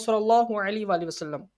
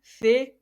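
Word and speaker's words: ث: Be, te, se, he, he, toy, loy. So it is according to the Urdu grammar. It is according to the Urdu grammar. So some Pakistani people read as, instead pronounce them in the following way: ba, ta, sa, ha, ho, tho, wo. So it is according to the Arabic grammar.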